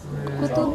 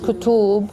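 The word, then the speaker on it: كُتُب: ده 6 كتب. 6 كتب ولا كتب. كويس، بس the pronunciation النطق مش كتب، هي ضمة وضمة. ما فيش لا ما فيش واو خالص، ما فيش واو، في ضمة وضمة. كتب.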